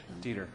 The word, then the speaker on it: Dieter: Dieter rhymes with meter.